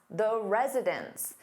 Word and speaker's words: residents: meaning more than one, it sounds exactly the same as residence, which is a place where someone lives. So the pronunciation is virtually identical when resident is in the plural form and it sounds like residence.